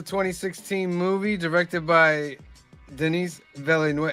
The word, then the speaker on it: Villeneuve: This is a 2016 movie directed by Denis Villeneuve.